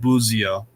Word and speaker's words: Busio: So actually, I think his last name is technically pronounced Buzio because it's Italian, so you pronounce it like Z, so Buzio.